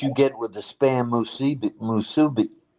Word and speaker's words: musubi: That's what you get with the spam musubi. How do you say that? Musabi? Wasabi? Musubi, yeah. Musubi.